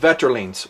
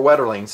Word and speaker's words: Wetterlings: We're going to talk about Wetterlings, or Wetterlings, American pronunciation.